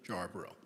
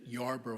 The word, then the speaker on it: Jarboro: Catherine Yarbrough into Katrina jarborough and I'm going to go back and forth between Katrina Yarborough and Katrina Yarbrough but the J is part of it would have been pronounced as a y sound which is why it